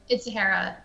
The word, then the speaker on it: Zahara: It's Zahara. It's not Zahara? Hera. It's like hair.